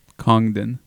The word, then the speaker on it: Congdon: So I ended up making a poster for Kim CONGDON. I hate saying her name. I have to say the G. CONGDON.